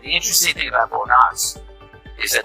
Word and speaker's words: Knox: The interesting thing about Fort Knox is that the K is silent.